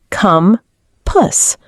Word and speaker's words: compass: Fourth, compass, pronounced come puss.